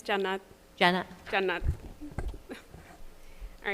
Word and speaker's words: Jannat: Janat, J-A-N-N-A-T. Did I pronounce it correctly? It's Jannat.